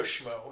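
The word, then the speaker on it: Smough: Schmo, Schma? I always go Schmo.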